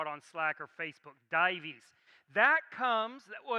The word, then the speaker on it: Dives: close very very close divis dives is how you pronounce the title if you saw it on slack or facebook divis that comes well it's a it's a latin word that means rich right it's and if